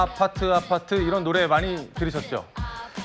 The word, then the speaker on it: 아파트: 사실은 아파트라는 발음은 한국식 발음이잖아요. 영어는 아니죠. 그런데 해외에서도이 한국식음으로 아파트라고 외치는 모습이 곳곳에서 포착되고 있습니다.